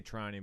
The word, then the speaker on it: Trani: last names training right I say trying but everyone says training how does it pronounced